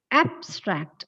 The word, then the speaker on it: abstract: The abstract of that poem will be read in the class.